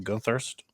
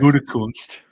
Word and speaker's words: Gutekunst: better first round drafting I am than Dan Gunthurst, or however you pronounce his Oh, that last wasn't name. even close. It's Brian. Whatever. I really Brian just don't care. Gutekunst.